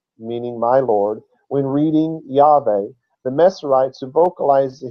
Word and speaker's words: Yahweh: It says, the original pronunciation was most likely Yahweh, Yahweh, Yahweh.